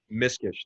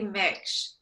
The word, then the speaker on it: Miksch: live with it I want to welcome miss Kish did I pronounce that right it's actually Mitch it's hard it's complicated it's a German name